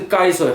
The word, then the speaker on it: 解說: 哇这，嘿，哇这，那个该水，这个重点是该水，很多人都打成国